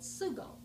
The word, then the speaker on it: sugo: So you would get up in the morning and you would smell the sauce simmering, and in Sicilian that sauce is called sugo, but in my family that's pronounced suka.